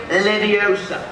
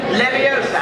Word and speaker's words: Leviosa: you go then windardium leviosa and again windardium leviosa good uh Mr weasley wardium leviosa stop stop stop you're going to take someone's eye out besides you're saying it wrong it's Leviosa not Leviosa all right do it